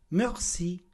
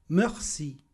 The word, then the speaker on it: merci: Pay attention to the pronunciation. Mercy. Mercy.